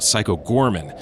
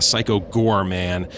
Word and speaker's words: Psycho Goreman: did it again uh i will sometimes call it psycho gorman uh it's just uh the way i pronounce uh pronounce it it's uh it's not correct it's actually a psycho gore man and apologies if uh